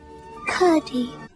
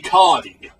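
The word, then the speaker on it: Curdie: Curdy. Oh, I guess I was saying his name wrong. It's apparently Cardi.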